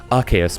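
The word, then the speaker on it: Arceus: me several times that by all wres it should be archus because Arc is an archangel plus de meaning God so Arc Deus archus but to me I will always pronounce it arus because I have a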